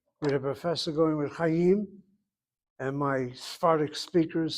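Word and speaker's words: חיים: If you have your syllable CVC and CVC with the accent having to be on the second syllable, it's a long vowel close. It should be Chaim.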